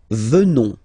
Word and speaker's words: venons: Nous venons. Okay? O-N-S, classical ending for nous. Okay? Final S not pronounced. So O-N, on, venons, venons.